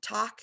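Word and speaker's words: takk: Talk is how you say it in Steve's language,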